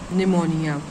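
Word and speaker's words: pneumonia: तो ऐसे ही इंग्लिश में ये है आपका निमोनिया। ठीक है? और स्टार्ट कहां से होता है? पी से। पी क्योंकि साइलेंट है यहां पर।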